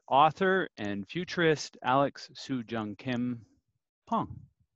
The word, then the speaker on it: Pang: and futurist Alex Soojung-Kim Pong. I have that pronunciation correct, don't I? No, perfect, Adam.